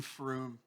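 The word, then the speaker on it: Frome: I'm guessing Froom. From a Dallas room. Well, you're right. It's Froom.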